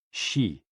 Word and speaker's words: xi: HOO, pronounced like hu, which is associated with the spleen, and XI, pronounced like shi, which connects the whole body.